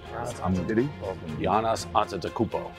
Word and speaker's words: Giannis Antetokounmpo: How do you pronounce it? Giannis Antetokounmpo.